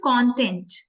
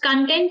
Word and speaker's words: content: is content uh spelling spelling remains same but the meaning changes with the pronunciation content happy content which